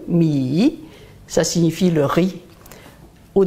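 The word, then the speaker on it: 米: Par exemple, mi, celui-là, mi, troisième ton, mi, ça signifie le riz.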